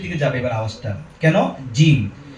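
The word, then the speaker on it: جيم: জিম। আর জিমটা আমরা ভিতর থেকে বলবো, কোনো আওয়াজ দিব না। কিভাবে? জি জি। অনেকে আমরা সামনে এনে বলি জি জি, আবার অনেকে আওয়াজ জারি করে বলি জি জি জি।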